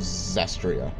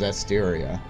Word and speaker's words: Zestiria: So I was doing that, and I just said after that, I was like, oh, I'm pretty sure it's Zestria. I've looked further, and it's Zestiria.